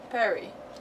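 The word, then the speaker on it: Peruere: Okay, so it it is French pronunciation. Perry.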